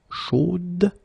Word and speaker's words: chaude: So here you pronounce the final D, whereas in the masculine form you don't pronounce it.